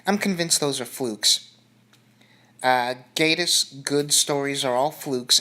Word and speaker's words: Gatiss: this was written by Mark Gatiss or Gatiss yeah I'm pretty sure it's pronounced Gaydos and I've come to some